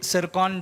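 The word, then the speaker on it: Tsirkon: तो ये नाम आपके लिए इम्पोर्टेंट है कि ये सिरकॉन, जो इसमें टी साइलेंट होता है, सिरकॉन हाइपरसोनिक जो मिसाइल है ये रशिया द्वारा लॉन्च किया गया है, उसका सफल परीक्षण किया गया है।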